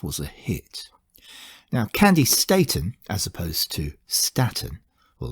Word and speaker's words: Staton: Today's song, Young Hearts Run Free, CANDI, STATON.